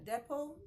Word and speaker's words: depot: correct pronunciation is Theo the t is silent it is useless there next we have listen